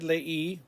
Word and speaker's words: leí: I read leí with an accent on the I.